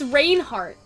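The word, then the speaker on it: Rainart: for some reason right but it's rain Hart rain it has an A not an e so I'm like Hospital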